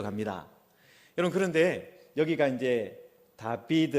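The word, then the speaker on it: דוד: 어 여기 보시면은 어 히브리어 가 이렇게 나와있는데요 다비드 에 뭐 발음 기호를 하면 다비드 입니다 여러분 저기에 우리는 이제 우리는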